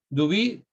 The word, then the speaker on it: Duby: historia, que es Georges, no necesito decir cómo se escribe, Jorgito, Georges Duby. Duby, ¿cómo suena?